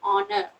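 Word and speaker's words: honour: H is silent over there. You pronounce it as honor.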